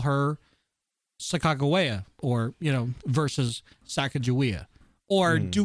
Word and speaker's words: Sacagawea: So that is what we know as that's a pronunciation that we've all grown up with. But due to scholars and Native Americans or American Indians who are from the same original tribe, the actual proper pronunciation is Sacagawea.